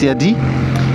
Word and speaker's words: Yadea: Ça se prononce Yadi. Et ça s'écrit Y-A-D-E-A.